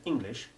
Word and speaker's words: English: you say that sentence making the e in england and english sound exactly like all the letters i i have to say i